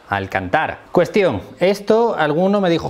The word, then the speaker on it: Alcántara: o al cantar porque esto es algo que en españa se suele decir alcántara por culpa de cuéntame pero creo que es alcántara no sé creo que es con acento en la segunda a al cantar cuestión esto alguno